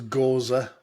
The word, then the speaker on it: Gose: I I I think the real way to pronounce it is goza but I think go